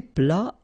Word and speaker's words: plat: Then un plat principal. Final T here not pronounced.